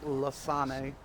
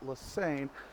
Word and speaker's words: Lassane: know, well, excuse me, as she told me, it's actually pronounced Lasane. Right. I've heard conflicting reports, but I think that's what she said initially. I forget when it was. She was actually streaming at the time. She was like, it's actually pronounced Lasani, but everybody pronounced it Lassane, so I just stuck with it.